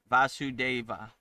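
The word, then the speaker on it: Vasudeva: Vasu deva that is Krishna.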